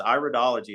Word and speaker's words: iridology: either but it you said it right it's iridology it's Iris analysis not Iris analysis so in